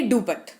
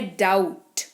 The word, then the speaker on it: doubt: अब लिखे हुए जो लिखा हुआ है उसी को अगर पढ़ना चाहें तो इसको पढ़ेंगे डूपत। क्या पढ़ेंगे? डूपत। लेकिन एक्चुअल में सही मायनों में इसका जो उच्चारण है वो है डाउट।